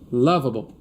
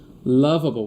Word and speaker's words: Lovable: Ó, eu queria te mostrar uma inteligência artificial chamada lavable, tá? Loable. Você pode chegar no Google e pesquisar por se escreve lovable, tá? É lovable mesmo, lovable, tá?